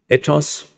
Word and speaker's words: ethos: need, it seems, morals, ethos, I pronounce it in the Greek way and not in the English way, ethos.